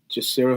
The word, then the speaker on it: Ndjisira: Actually, just to correct you, Mike, my real name is Jacira. That's spelled Ndjisira.